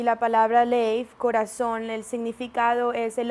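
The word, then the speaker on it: לב: All right, so your heart in Hebrew is pronounced lev.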